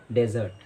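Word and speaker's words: dessert: जो पहला वर्ड है उसका अर्थ होता है रेगिस्तान, जिसकी प्रोनाउंसिएशन होती है डेजर्ट, डेजर्ट। और जो दूसरा शब्द है जिसका अर्थ होता है मिठाई, इसकी राइट प्रोनाउंसिएशन होती है डिज़र्ट, डिज़र्ट।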